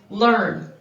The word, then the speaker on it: learn: what do we wonder the letters e a r in learn are standing for the er sound kind of like they did in our